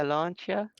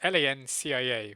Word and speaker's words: Lancia: see it on it's Lancia. When you see it on screen, you think it is Lancia. That's how yeah. phonetically you'd think it looks like. But yeah, no, the Cia is Chia instead.